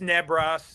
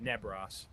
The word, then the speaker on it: Nebros: I It's Neb Ross and I called him that in the post braid. Neb Ross.